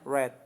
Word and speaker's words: read: adalah verb 3 nah verb 3-nya read itu dibacanya red Oke read read read